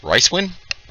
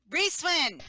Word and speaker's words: Reeswin: Ricewin? Reeswin! I'm sorry, Reeswin.